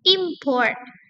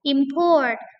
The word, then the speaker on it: import: Contoh kata import. Nah, ini berarti yes, ini noun gitu ya, karena eh stress-nya ada pada first syllable. Tapi kalau stressingnya ada di second syllable such as import, import, import. Nah, this is verb object.